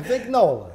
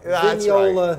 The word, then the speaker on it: Vignola: Okay, Vignola. Vignola, right. Depends where you are in the world.